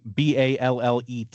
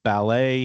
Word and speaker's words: ballet: So continuing, I guess, with the syllable stress thing, BALLET is ballet here in the United States. I remember this very much from the movie Billy Elliot, that the British call this ballet.